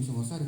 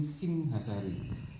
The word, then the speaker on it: Singhasari: Makanya museum kami itu bukan museum Singosari, ini museum Singhasari.